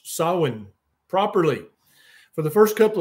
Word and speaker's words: Samhain: yeah yeah decline decline declan says that i pronounced sawin properly for the first couple of years i knew about it decline i i called it samhain i didn't i was i was an idiot